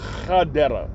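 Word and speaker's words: חדרה: You got two cities that sound the same, but it's the first letter that determines the name. Gadara, Gemo, Gadara, like girl, G. And then there's one way up north, also delivered to them too. Chadera. It's Chet. Chadera. See? And that's the difference.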